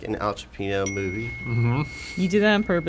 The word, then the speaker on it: Pacino: Pacerno!